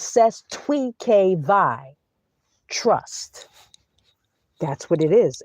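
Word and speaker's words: Cestui Que Vie: That's how you pronounce ces twe k vi. It's not ces the k. It's ces twe k vi. Trust. That's what it is. It's French. Ces Twe K VI, not CES to KV.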